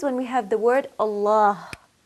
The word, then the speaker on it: Allah: we have the word Allah Allah the lamb in Allah can be pronounced either heavily or lightly now how do we